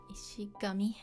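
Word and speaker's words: 石神: Ishigami. It's a compound, but oftentimes it's pronounced with Kun'yomi.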